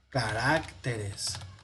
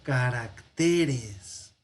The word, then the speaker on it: caracteres: Porque el acento en el plural ya no va a ser caracteres, no sería esdrújula, sino que el acento se pierde y se pone en la siguiente.